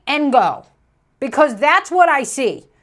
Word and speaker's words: Ngo: Now, look, Asians, you can't just throw a bunch of consonants in the middle of your name and tell us that it's pronounced. I'm gonna say Ngo, because that's what I see.